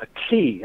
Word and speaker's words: ackee: It's a fruit that's called a key, I think. It's spelled Ackee.